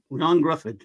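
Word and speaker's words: Ioan Gruffudd: y it's Yan it's Yan yon grod GFF yon Gruff yeah I don't wantan to dude if your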